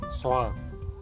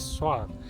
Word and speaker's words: soğan: to spell soğan, then you can just ignore angelic G and read it as soğan. If you pronounce O letter a little bit longer, then it will be more like soğan.